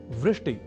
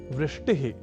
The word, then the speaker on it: वृष्टि: एक शब्द है वृष्टि या वृष्टिह। पर कभी-कभी हम में से कुछ व इस अक्षर का उच्चारण ब के रूप में कर दिया करते हैं। और वे बोल जाते हैं वृष्टि या वृष्टिह।